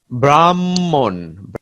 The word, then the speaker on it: ব্রাহ্মণ: যেমন ব্রাহ্মণ, ম ম হয়ে যাচ্ছে এখানে।